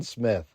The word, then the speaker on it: Smythe: This was not good for Captain John Smith. They started a campaign to get more money. They opened up investing to everyone. Smythe, which by the way is actually pronounced Smith, he went into union